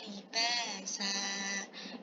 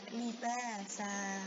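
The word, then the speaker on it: لِبَاسًا: Waja'alnallila libasa. tidak libas tapi libasa, maaf gitu ya. Ee fathah tay fathah tayim. Kemudian ada alif sukun dibacanya libasa.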